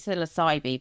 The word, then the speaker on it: Psilocybe: which is what's led to my latest book, Psilocybe Pickers. I'm glad you said that. So I pronounce it psilocybe, but I'm assuming your pronunciation is the best one.